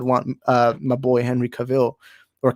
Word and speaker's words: Cavill: i still would want uh my boy henry cavill or cavill i always mispronounce that like i always get clowned on